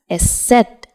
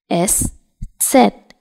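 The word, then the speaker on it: Eszett: does not complete here this is known as s set s set s set or it is also known as Sha's s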